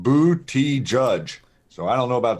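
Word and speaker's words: Buttigieg: to understand guys yeah a man out there said you pronounce it bootie judge so I don't know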